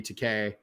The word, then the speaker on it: Takei: Yeah, I think that was George Takei in that. And I realized that as soon as I said that. Takei rhymes with Same gay. thing.